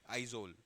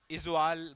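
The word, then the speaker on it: Aizawl: हाँ, इजवाल बोलते हैं वैसे हम नॉर्मल। हाँ, इजवाल ही लिखना है। मतलब कैपिटल ऑफ मिजोरम है इजवाल, मतलब बट आई एम टॉकिंग कि एग्जैक्टली इंग्लिश में क्या स्पेल करेंगे उसको, तो उसको आइजोल बोलते हैं। मतलब वो लोग भाई, what is द कैपिटल of Mizoram, that is आइजोल, ऐसे प्रोनाउंसिएशन ऐसे होती है।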